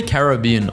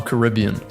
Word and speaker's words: Caribbean: Do you say Caribbean or Caribbean? So this person says Caribbean, but he pronounces Pirates of the Caribbean the other way. But I say Caribbean for everything. Caribbean, Caribbean.